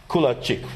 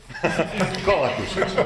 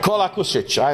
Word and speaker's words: Kolakušić: And another colleague from Croatia, Kulačić, right? Do I pronounce it correct? Right now, not. Kolakušić. Kolakušić, I know it's tough with all these names.